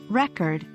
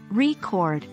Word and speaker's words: record: or information stored but when we say record record stressing the second syllable it becomes a verb meaning to capture sounds